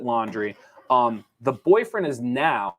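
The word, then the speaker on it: Laundrie: going to pronounce it laundry it's l-a-u-n-d-r-i-e so i'm going to pronounce it laundry um the boyfriend has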